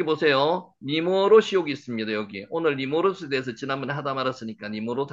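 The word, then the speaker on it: נִמְרֹד: 니머롯. 실제로 발음은 니머로드. 요렇게 되죠. 니머로드 렇게 됩니다.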